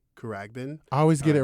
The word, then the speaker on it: Khruangbin: I don't want to say their name wrong. I think it's Khruangbin. Khruangbin.